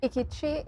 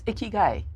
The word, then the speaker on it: ikigai: Is what ikichi? Is it? Am I saying it right? It's ikigai. Ikigai, right?